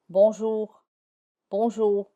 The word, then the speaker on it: bonjour: It is less audible and it sounds a bit dry in words such as bonjour. You say it but it's not very audible. It's very dry.